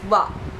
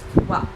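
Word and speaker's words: は: But this one is wa. It's actually written with the hiragana ha for some reason. Don't know why, again. But it's pronounced wa.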